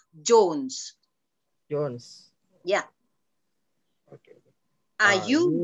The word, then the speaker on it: Jones: Kalau John itu John, tapi kalau Jones bacanya Jones.